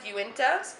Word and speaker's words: Uinta: Uinta? Yep, That's how you pumpkin ale.